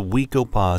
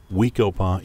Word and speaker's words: Wekopa: The Wekopa story begins with its incomparable setting. Located on the eastern edge of Scottsdale, Arizona, Wekopa is blessed with spectacular mountain vistas in every